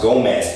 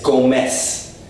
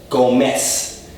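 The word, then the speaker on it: Gómez: it's not actually pronounced Gomez it's go mess go miss there's no Z the Z sound doesn't exist so the next time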